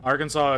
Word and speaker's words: Arkansas: uh cuz it's French Arkansas is a French word uh that's because they open the Border yeah yeah Arkansas is is is pronounced that way because it is a French word not there's no other